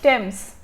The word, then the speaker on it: Thames: It is actually pronounced as Thames.